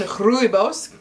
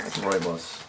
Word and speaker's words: rooibos: This naturally caffeine free blend of South African rooibos. Can you say rooibos? Vanilla bean and masala spices is amazing brewed on its own, but also stands up very well to added milk and sweetener. Rooibos.